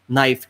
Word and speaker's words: knife: Knife, KNIFE, K silent. You do not pronounce that.